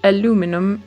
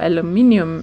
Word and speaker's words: aluminium: raw fish, and then some aluminum ingots, or aluminium ingots, depending on where you are from and how you pronounce that.